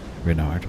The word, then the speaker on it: Renard: Renard with the accent on the Rin.